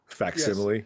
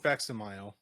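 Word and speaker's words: facsimile: Um, so they're bringing out a Dark Knight Returns faximile tomorrow. Yeah. Yeah. Yeah. Why do you think it's coming out tomorrow? Is that how you say that? Faximile. Yes. It's not faximileo.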